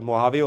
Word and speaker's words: Mojave: Moa, some people call it Moavee also but again however you pronounce.